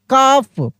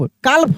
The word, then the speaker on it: calf: यहाँ पे देखिए CALF, काफ, क्या पढ़ेंगे? काफ, काल्फ नहीं, काल्फ नहीं पढ़ेंगे, काफ, ऐसे।